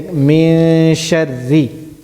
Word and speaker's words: من شر: Not min, I'm not pronouncing the noon. I'm saying min sharri. min sharri. Min sharri. Min sharri. Not sharri, not heavy, but light.